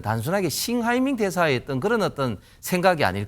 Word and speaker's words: 싱하이밍: 예상하기 좀 힘들고 지금 싱하이밍 그 대사를 보면 저도 좀 아는데 그 한자가 우리나라 발음으로는 형 해명입니다 형 해명인데 형 해명대사는 좀 독특한